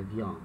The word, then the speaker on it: vient: Repara que é pronunciar mesmo, né? Vian. Mas primeira e segunda pessoa termina com S e a terceira pessoa termina com T, né? No singular. Mas a pronúncia é igual.